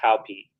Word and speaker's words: Hopi: It's pronounced Hopi.